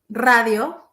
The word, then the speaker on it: radio: but in Spanish uh if the r is in the middle it has to be soft for example my name is but radio like the hours at the beginning it's sweet radio so it was fine